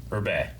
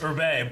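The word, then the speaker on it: Hebert: is kyle herbert who berbet which one one's that he plays uh adult gohan and the dragon ball super narrator this narrator yeah kyle herbert yeah yeah i think he's pronounced urbe but yeah rob you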